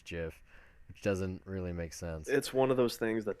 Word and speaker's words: GIF: I say GIF, but whatever. Um it's the internet. Like I've heard people say it's gif. I'm like no that's the peanut butter. There's clearly a J.